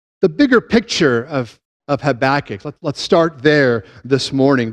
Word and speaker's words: Habakkuk: bigger picture of of habach let's start there this morning the book is structured really around a conversation between a perplexed Prophet a dude named havakuk in the Hebrew habach as I pronounce it who lived during